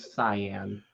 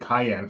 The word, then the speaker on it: cyan: word I pronounced it Cayenne for the longest time before I learned it was a soft C that's uh my biggest